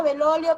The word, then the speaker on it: Bellolio: pronuncia Belolio, pero se escribe Bellolio.